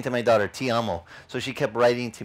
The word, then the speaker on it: ti amo: Kept saying to my daughter, ti amo. So she kept writing to me, T-E-A-M-O. I said, honey, ti amo is T-I-A-M-O. In Italian, ti amo is T-I. But it's pronounced te. But it's pronounced, or it's